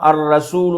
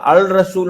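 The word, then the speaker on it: الرسول: அப்ப எனவே இப்ப உதாரணமா அர்ரசூல் என்று வந்தால் அல் ரசூல் என்று உச்சரிக்க இயலாது எப்படி உச்சரிக்க இயலாது அல் ரசூல் என்றது எப்படி உச்சரிக்க கூடாது அல் அல் ரசூல் என்று உச்சரிக்க இயலாது சொல்றது எனவே அங்க வந்து அந்த லாம் என்பது சைலெண்ட் தான் இப்படியாக இந்த பாடம் இப்ப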